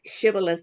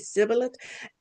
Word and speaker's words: shibboleth: When the Ephraimites could not pronounce the word shibboleth, they said sibboleth.